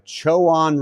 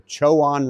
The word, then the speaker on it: Chowan: event I think I'm saying it right the choan river according to the locals that's how you pronounce it the choan river in North Carolina it's really exciting doing